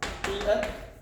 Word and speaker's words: fiat: 명목화폐는 fiat money라고 합니다. 자, 먼저 이 표현 중에서 fiat money, 발음이야 fiat이라고 말을 하지만 우리가 실제로 최근에 여러분들